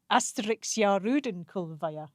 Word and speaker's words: Asterix: In Finnish, astera.